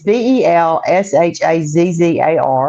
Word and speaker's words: Belshazzar: And the translation Daniel gave us was I cannot pronounce that word. Connie, help me out there. Belshazzar or something. I don't know. It's Belshazzar.